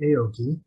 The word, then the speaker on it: Aoki: So first we have Kate Aoki. Is that pronounced correctly?